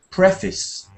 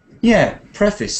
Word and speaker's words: preface: on that word, but it's almost is the stress, but not preface. So it's an interesting word for me because normally I would think of prayer as a kind of unstressed syllable, but preface is the way you say it. Preface.